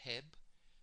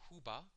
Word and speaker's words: Huba: Some pronounce it Heb. We pronounce it Huba in our dialect of the golden beetle.